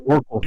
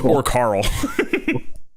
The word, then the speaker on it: Orc Carl: I thought it was Orcal. That's how you pronounce it. It's Orc Carl.